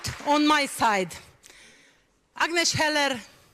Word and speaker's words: Agnes Heller: not on my side Agnes Heller that's the proper pronunciation I would say is